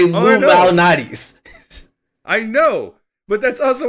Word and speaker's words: Lou Malnati's: Y'all don't pronounce it correctly. Lou Malnati's. Everyone says it like they're saying Illuminati's.